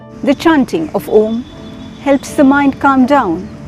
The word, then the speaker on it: om: of peace and calm om is considered the primordial sound of the universe the first sound this universal sound is a combination of three syllables r u and ma when we pronounce